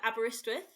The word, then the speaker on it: Aberystwyth: yeah I just want to know how you pronounce where your University was uh aberystwyth right if you think that's um Welsh yeah